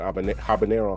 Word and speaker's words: habanero: of them is this habanero, or I guess your H is silent, habanero hot sauce.